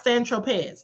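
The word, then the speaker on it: Saint-Tropez: So, anyway, um, Agnifos said, "When you brought the eightball of CocaCola on San Tropz or Sanrope, pronounce Sanropez." That's how you pronounce it.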